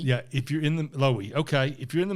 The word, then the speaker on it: Loewi: It's a dream from a guy named Otto Loewi. Is that his name? Is that right? I don't think you pronounced it. I thought it was Louis.